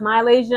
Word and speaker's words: MiLaysia: Malaysia full wiely okay I know it's pronounced Malaysia I'm sorry I keep